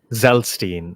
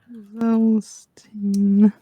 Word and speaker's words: Zelstein: I believe it is Zelstein. So what? Zelstein. I'll spell it out again. Zelstein. Like one of those crackers.